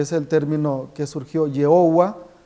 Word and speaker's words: Jehová: Para nosotros católicos, la pronunciación más correcta es Yahvé, es la pronunciación que conservaron los padres de la Iglesia, es la pronunciación del nombre de Dios que tienen los samaritanos, y para nosotros el nombre de Dios en el Antiguo Testamento es Yahvé, no Jehová.